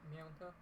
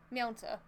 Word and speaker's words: mięta: Like, we say mint, they say mieta. Mieta? I think that's how you pronounce it. Mięta. Mięta.